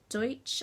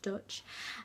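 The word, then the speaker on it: Deutch: actually directed by howard deutsch i think i'm pronouncing that correctly deutsche dutch um and it is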